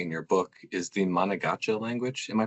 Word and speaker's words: Manegacha: So one thing you've become known for personally, and which features really prominently in your book, is the Manegacha language. Am I pronouncing that right? Yeah, Manegacha.